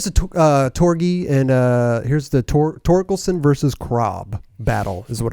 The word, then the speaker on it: Torkelson: I like Torkelson better than Torgensen. See, I'm saying it wrong already.